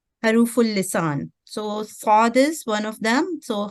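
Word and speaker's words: ص: Most of the time it's mispronounced or replaced with letter seen. So seen is a thin sound letter, but Sad is a thick sounded letter, right?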